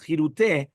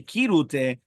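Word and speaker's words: כרעותה: He concluded therefore that the custom of pronouncing the word with the chirute is clearly a valid practice. Decades ago, we discussed it with Sion, and he agreed with us that those who follow the practice of pronouncing the word chirute are on solid ground. Meaning, even though Rav Ovadia wanted to say kirute, but he did admit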